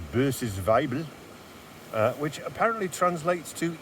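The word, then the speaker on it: Böses Weibl: dry conditions is this one here which is pronounced B's vible uh which apparently translates to Evil Woman um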